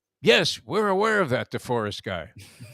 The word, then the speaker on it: DeForest: of this guy jeff deforest you know he mispronounced my name as like the florist you know down here